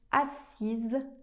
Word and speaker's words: assis: La bonne réponse c'est mes amis se sont assise à côté de moi.